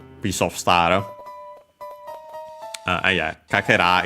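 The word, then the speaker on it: 欠片: Uh star piece piece of star uh yeah kaka is actually fragment piece and so on and accented uh so yeah literally uh a fragment piece of uh I'd say uh health.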